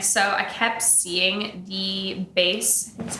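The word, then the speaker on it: Béis: And so I kept seeing the base, that's how you pronounce it, the base bags, Shay Mitchell's brand.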